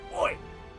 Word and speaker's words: Oy: dog named oi but it's spelled o y so it's like oi and yeah great series